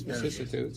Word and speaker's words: vicissitudes: Yes, vicissitudes.